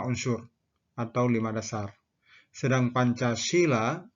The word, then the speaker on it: Pancasila: atau lima dasar sedang Pancasila dengan huruf dewanagari dengan huruf e-nya tanya panjang memiliki arti lima aturan tingkah laku yang penting 5